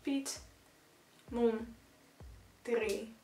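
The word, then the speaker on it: Piet Mondriaan: So it's Piet Mondrian.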